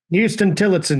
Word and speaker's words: Huston-Tillotson: Huston-Tillotson University. Tillotson. Okay. See, I knew I was going to screw part of it up. I got Houston right, even though it's not spelled like Houston, Texas.